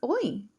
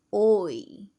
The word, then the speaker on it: hoy: Remember, the H is silent in Spanish.